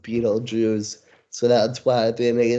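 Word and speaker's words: Betelgeuse: you see that spelled differently uh but it's pronounced Beetle Jews so that's why they made the title just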